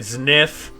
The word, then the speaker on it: Zniw: I'm playing what is called, and I am not joking, Sniff Adventure. Apparently the W is pronounced as F for some reason.